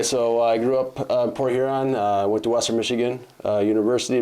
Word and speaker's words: Port Huron: So I'm from Port Huron, so I gotta be careful how you pronounce that, I should say, because those of us in Port Huron often will say Port Urine.